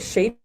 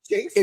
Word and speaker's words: chafing: How did you say it? Shaping. Yeah, I'll be honest. I had charcuterie boards on the mind. So it's chafing. It's chafing. I mispronounced it.